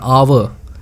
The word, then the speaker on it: hour: For example, in the case of an hour, we say it an hour, not a hour, right?